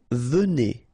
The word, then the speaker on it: venez: Vous venez. Okay, so a Z at the end combine will give you the sound E. And here you've got a venez.